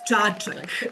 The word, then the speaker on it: Čačak: Now we're going to Maria in Čačak. Did I pronounce that correctly? Yes, Čačak. Actually, it's Čačak. Thank you.